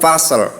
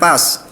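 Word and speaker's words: فصل: Ya, innahu laqaulun fasl. Oke, bukan pas, ya. Karena akhirannya lam.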